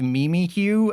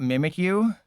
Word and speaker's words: Mimikyu: Did you know that it's actually pronounced Mimikyu and not Mimikyu? Did I just ruin your day telling you that it's officially pronounced Mimikyu and it's not pronounced Mimikyu?